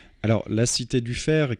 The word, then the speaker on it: Faire: Alors, la Cité du Fer, qui s'écrit F-A-I-R-E, qui est un jeu de mots avec le fer, F-E-R, puisque la Cité du